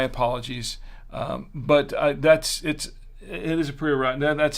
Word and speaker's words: Priorat: III, and it's a Priorat, or as they say in Spain, a Priorat. Priorat. I'm not really good with trilling. I'm not. My apologies. But it is a Priorat.